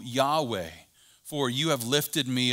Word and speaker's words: Yahweh: letters YHWH or Yod-Heh-Vav-Heh, which is sometimes pronounced Jehovah, but more technically, I believe, is pronounced Yahweh.